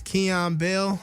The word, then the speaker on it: Xian Bell: Cool, yeah, so it's Xian Bell. I know it's spelled a little funky, but XIAN_BELL on all my socials.